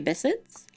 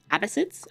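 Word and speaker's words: Abbasids: You want to learn about the abyssids? Abbyssids I should say. I don't know why I said it wrong.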